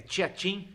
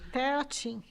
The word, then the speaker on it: Teatim: É, é Tiatim, é isso. Teatim. Teatim. É assim que se pronuncia.